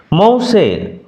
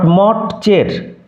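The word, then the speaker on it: mon cher: মৌসে, নট মট চের, এরকম উচ্চারণ হবে না। মৌসে, সিএইচ উচ্চারণ এখানে এসএইচ এর মতো।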